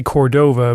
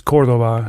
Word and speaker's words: Córdova: I'm pleased to say that Jason Córdova, I've heard Larry say Cordova, but in Spanish it's Córdova, so I might bugger that pronunciation up, but he shows that he's really able to live up to that standard.